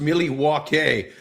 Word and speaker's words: Milwaukee: The only thing I know about Milwaukee is it was originally pronounced Milliwackie, which is Algonquin for the good land.